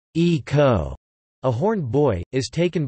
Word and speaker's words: Ico: the character plot ico ico pronounced e-co a horned boy is